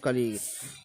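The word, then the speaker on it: colleague: देख लेते हैं दोस्तों, जैसे कि कॉलेजियस, जैसे कॉलेजियस नहीं बोलते, जैसे कलीग बोलते हैं, कलीग, ठीक है ना।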